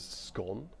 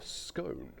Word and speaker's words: scone: As you can see, you can pronounce this word as scone or scone.